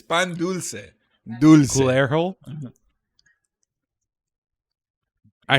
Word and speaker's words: dulce: it's the hard C with pan dulce, or the soft C with pan dulce. Dulce. That's pendeco or pendejo. I gotta get close to the mic for this one because this word is just not one you can say casually. It's definitely a loaded word. Hunt. No. Dulce. Dulce. So you can say it. It's pan dulce.